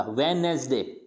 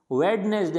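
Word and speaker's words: Wednesday: ये वेड नहीं होता है, वेड नहीं होता, वेनेसडे, क्या होता है, वेनेसडे, यानी डी इसमें प्रोनाउंस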